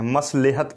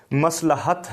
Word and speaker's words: مصلحت: پھر ہے جی مصلحت، عموماً غلط تلفظ کے ساتھ کہتے ہیں، مصلحت کہہ دیتے ہیں، مصلحت نہیں ہے، مصلحت ہے، مصلحت۔ پھر ہے مزاح، طنز